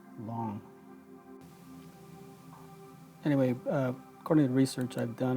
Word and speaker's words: Lang: spelled L AMG but I believe the correct pronunciation it's long anyway coordinated research I've